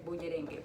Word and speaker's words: bullerengue: And then we're gonna start working on the bullerengue. Bullerengue. I also want you to practice saying that. Say it 1,000 times this week, okay? Bullerengue, bullerengue, bullerengue.